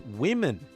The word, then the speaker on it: women: pron pronunciation thing it's women not women not woo it's not a woo sound I know we all